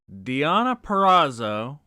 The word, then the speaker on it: Deonna Purrazzo: Okay, we're starting off with fucking Deonna Purrazzo. Thank you for pronouncing it correctly.